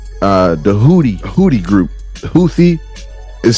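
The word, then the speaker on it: Houthi: targeted targeting y uh the hoodie hoodie group houie is spelled h o u t h but it's pronounced hooti uh they're like a underground terrorist group they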